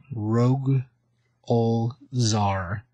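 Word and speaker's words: Rogol Zaar: But just so people know, this is Rogue Lazar. Rogue Ol Zar. Let me spell it for you. It's ROGOL, then ZAAR. That's two A's in there.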